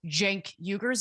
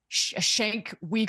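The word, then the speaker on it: Cenk Uygur: watching the Young Turks, he would know how to pronounce Jenkuger's name. It's not Shank Weaguer or whatever it is that he said.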